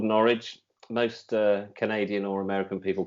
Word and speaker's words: Norwich: I think, and it's called Norwich. Most Canadian or American people call it Norwich. They pronounce it Norwich, but it's Norwich.